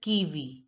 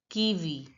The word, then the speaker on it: kiwi: speaker in French look the I is pronounced as e as I already told you so it has to be pronounced he says kiwi kiwi now listen to the